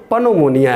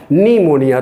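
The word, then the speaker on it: pneumonia: कोशिश कीजिए भाइयों कि ये पी को हम यहाँ पे साइलेंट कर दिए, तो यहाँ क्या है कि लिखा फोनेटिकली देखो तो पनोमोनिया है लेकिन इसको पढ़ा क्या जा रहा है, निमोनिया।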